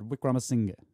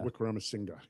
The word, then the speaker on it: Wickramasinghe: last part of his name, is it actually like two syllables, Singa? Is that Singa? Yeah, we asked him. Singa, yeah. Yeah, I asked him before Singa. We started to make sure. I was like, I want to make sure I'm saying, and he said, Wickramasinghe is how he pronounced it.